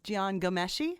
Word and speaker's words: Jian Ghomeshi: to say his name is it Jian yes Jian Ghomeshi that's correct then I do know how to